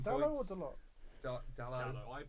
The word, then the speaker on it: Dalot: Dallo. I pronounce it Dallo, but he can pronounce You could.